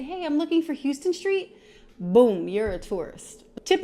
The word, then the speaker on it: Houston Street: the Americas Houston Street I know it spelled like Houston and technically that's how it should be pronounced but that's not how we say it I don't know why